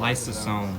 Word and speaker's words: lysosome: Lysosome.